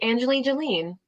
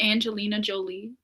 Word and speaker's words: Angelina Jolie: gosh this looks like Angelina Jolene Loki who and Angeline Jolene she acts in a lot of action movies did I am I saying her name wrong are we talking about Angelina Jolie yeah what did I say